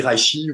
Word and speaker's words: reishi: Une autre plante que j'aime bien, c'est le reishi. Le reishi. J'arrive jamais à la prononcer celle-là, donc vous m'excuserez, c'est le champignon chinois qui ressemble au reiki, mais qui se dit reishi ou qui porte un autre nom.